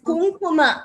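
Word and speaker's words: कुङ्कुम: It is Kumkuma, not Ga. It is not Ga, it is Ka.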